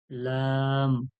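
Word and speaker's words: ل: এরপরে দেখুন লাম, লাম, লাম। লামও ওইভাবে উচ্চারণ হচ্ছে, সামনে জিহ্বার আগা, সামনে দাঁতের গোড়া থেকেই লাগতেছে এদিক ওদিকে মিলিয়ে লাম, লাম, লাম।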